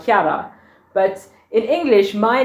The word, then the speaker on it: Chiara: so my name is italian chiara it's actually pronounced kiara but in english my name means clear or